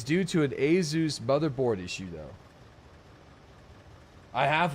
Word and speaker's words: Asus: I have been educated by the company themselves with a educational video to pronounce it as Asus products.